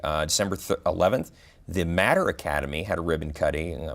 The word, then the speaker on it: Mater: The Matter, and I know that you'll see it as M-A-T-E-R, which most people would pronounce as Mater. But a lady in Florida who got this thing started, her family name is Matter, and she spells it that way, so they're sticking with the pronunciation.